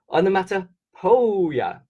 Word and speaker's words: onomatopoeia: So the reason why I'm saying it like this, it's a bit funny, is if you think of the boy's name Joe, J-O-E, it's spelled similar to this, P-O-E, P-O-E.